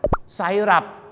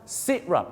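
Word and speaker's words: syrup: เรา ก็ ไป ออก เสียง ว่า อะไร ครับ ไซหรับ ไซหรับ แต่ เคย ทราบ นะ ครับ ว่า พระ ภาษา อังกฤษ นะ ครับ ที่ จริง แล้ว เ ออก เสียง ว่า อะไร นะ ครับ sirup นั่น เอง ครับ ถูก ต้อง ฮะ sirup sirup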